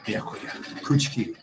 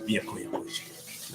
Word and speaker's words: Byakuya Kuchiki: Byakuya Byakuya Kuchiki. Thank you. Byakuya Kuchiki.